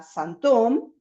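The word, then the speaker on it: sinthome: la palabra síntoma a santom como les digo lo estoy pronunciando en francés para que se escuche la diferencia porque en castellano no hay tanta diferencia en el sonido tiene que ver con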